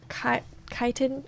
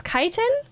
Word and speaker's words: chitin: a CH in it and I think it's pronounced ch but it reminds me of this I don't know chiral chitin oh it's chitin chitin chitin chitin soft chitin soft chitin um